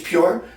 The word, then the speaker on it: PUR: It's made by, I think it's pronounced Pure. Actually, that's funny, because I discovered A-CUR 3 weeks ago, and that's C-U-R. And I discovered this 2 months ago, and it's made by a company, and it's called Pure, but it's spelled P-U-R.